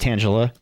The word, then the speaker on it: Tangela: And yes, it's pronounced Tangela.